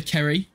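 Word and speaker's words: Ceri: We're going to name it Seri, after Kerry, who is in the TikTok chat, because her name is spelled C-E-R-I, and I always pronounced it as Seri at the start, and I don't know why.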